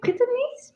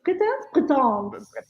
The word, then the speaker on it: Breton: We are getting, how do you say that? Bretonese? Breton. Yes.